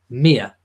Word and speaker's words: Mia: find a video where Zara said the name Mia but when I found you I didn't Bently find it and she did pronounce it the same way that I pronounce it which was Mia Mia Tindall so that is the correct pronunciation